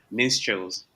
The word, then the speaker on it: Minstrels: Minstrels. It's a weird pronunciation.